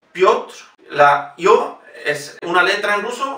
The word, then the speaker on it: Piotr: Piotr, Piotr, la yo es una letra en ruso, como una E con dos puntitos encima, y se pronuncia yo.